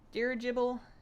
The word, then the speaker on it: dirigible: Dirigible. The emphasis on the second syllable.